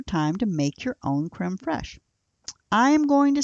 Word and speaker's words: crème fraîche: you were entertained as well let's talk about creme fraiche creme fraiche I'm gonna spell that for you and it is CRE M e F Rai CH e but it is pronounced Karem koresh that's similar to sour cream and while sour